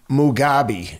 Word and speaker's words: Mugabe: How do you pronounce his name? I want to say it right. Mugabe.